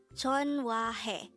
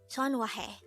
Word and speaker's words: 전화해: This is pronounced as a three-syllable word. The first syllable is Jeon, second syllable is Hwa, third syllable is Hae. Pronounce it with me. JEONHWAHAE. JEONHWAHAE.